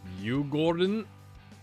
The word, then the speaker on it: Djurgården: Djurgården is how I've listened to it online, is how to pronounce it. Not Djurgården. That was a bit French of me in the last episode.